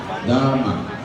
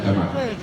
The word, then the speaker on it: Damak: Dapat Damak. Hindi pwedeng Damak. Damak. Sa Bisaya pa, alam nyo kung anong ibig sabihin ng Damak. Pero the correct way to pronounce it is Damak.